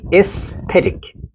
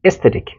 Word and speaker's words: aesthetic: অ্যাজ উচ্চারণ করা যাবে না, উচ্চারণ হবে কি এস্থেটিক। এটাকে উচ্চারণই করবেন না আপনি, ঠিক আছে, সামনের উচ্চারণ হবে কি এস্থেটিক।